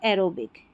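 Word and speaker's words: aerobic: ए याद रख लें ए ई को हम ए पढ़ेंगे एरियल एरो प्लेन और एरोबिक यानी ए ई जो है इसको हमने पढ़ दिया ए आर को यहां पर आप मत जोड़ें।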